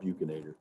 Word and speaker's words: buccinator: Some people pronounce it buccinator. It's called buccinator.